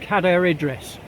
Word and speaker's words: Cadair Idris: Now for the whole area I'm going with Cadair Idris, as on the Ordnance Survey map, spelt C-A-D-A-I-R.